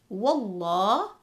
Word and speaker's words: Wallah: And we have the word Wallah, where the Lam is read heavy in the word Allah.